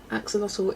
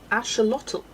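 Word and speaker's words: axolotl: Axelottle is an Naha word. Aztec, it's pronounced ashelottal.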